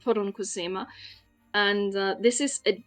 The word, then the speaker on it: poronkusema: give you a word this is a Finnish word that is uh pronounced pona and uh this is